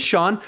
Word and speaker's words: Sean: is my name is Sean a lot of you guys a lot of people think my name is pronounced seen because they read it it it's spelled see and so they think it's seen so I just say